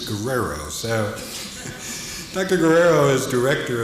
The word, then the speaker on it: Guerrero: Brenda Guerrero, and I was asking her, I had used the Hispanic definition or pronunciation of her name, and she says she's Italian, and so as far as she's concerned, it's Guerrero.